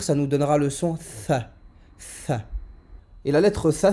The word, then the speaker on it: ث: Le tha, sa prononciation est comme si on avait un cheveu sur la langue. On place la langue, on vient positionner la langue entre les dents du haut et les dents du bas.